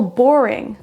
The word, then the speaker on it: boring: C'est la même chose pour boring. Boring. La première syllabe est prononcée plus fort que les autres.